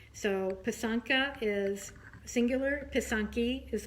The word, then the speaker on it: pysanka: on piece on ki and one is a pisanka so pisanka is singular poisson key is plural okay so